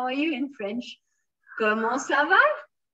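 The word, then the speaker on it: comment ça va: are you in french como slava you have it written here this is ko mo and we don't pronounce this t sa then for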